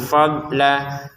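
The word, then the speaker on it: فضلا: Tabtagu fadla. Untuk ini tulisannya fadlan tapi kita bacanya fadla ya. dibaca panjang dua harakat untuk lamnya karena kita berhenti di sini.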